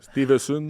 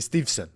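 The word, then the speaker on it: Steveson: Sport 2 Gable Stevenson Stevenson c'est Stevon Stevon qui est le qui qui le prononce fait ses débuts enfin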